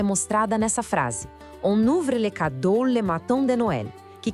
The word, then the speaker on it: les cadeaux: Les cadeaux. Atenção na pronúncia aqui. Les cadeaux. Aquele X no final é mudo, a gente não fala, tá?